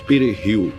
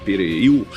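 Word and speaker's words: perejil: __ ] no Haiti, eles não conseguiam pronunciar da mesma forma que os dominicanos Pereil, que é Salsinha em espanhol. Assim, os soldados assassinos de Trurilo pediam que os haitianos dissessem pererriu. E se eles pronunciassem erroneamente dissessem períu eram detidos ou mortos?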